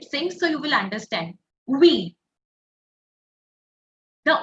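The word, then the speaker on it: oui: we we we yeah you have to say V but instead of starting normally like in English you make a circle first you make a o with your mouth and then say V we make a o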